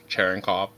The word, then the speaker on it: Cherenkov: I would prefer if you said it like in the Russian way and not just whiteify it. Cherenkov. Say it like with the Russian accent, please.